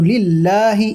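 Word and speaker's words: لله: তো লিল্লাহি এখানে একটা কথা মনে রাখবেন যে অনেকেই এই লিল্লাহ লামের জায়গায় র ব্যবহার করে। র মানে লিল্লাহটা লিল্লাহ বলে অনেকে। এটা এটা মনে রাখতে হবে যে লিল্লাই হবে। মানে আল্লাহর জন্য আর জন্য লাম ব্যবহার হয় আরবিতে। র ব্যবহার হয় না ঠিক।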